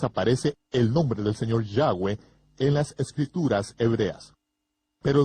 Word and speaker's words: Yahweh: parte de los gentiles el mundo de habla inglesa lo ha pronunciado aún peor al pronunciar la y como J jehova ni siquiera cerca cerca de 7000 veces aparece el nombre del señor Yahweh en las escrituras hebreas